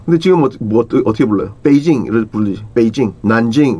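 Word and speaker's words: Beijing: 중국에 있는 지명 같은 것도 북경이라고 하고 지금도 북경이라고 많이 하던데 그건 한국식 발음이거든. 북경이라는 건 북경 남경 뭐 응?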